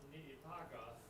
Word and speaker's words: Niitaka: The mountain is pronounced Niitaka, and the code message for launching the attack on Pearl Harbor was climb Mount Niitaka.